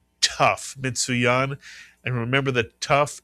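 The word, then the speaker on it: ת: It makes the sound of T. Mitsuyana. It's called a tough.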